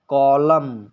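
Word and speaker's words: column: हमेशा साइलेंट रहेगा जैसे कॉलम कॉलम यहां पर एम के बाद एन आया है तो यह भी साइलेंट हो गया है इसी तरह हिम हिम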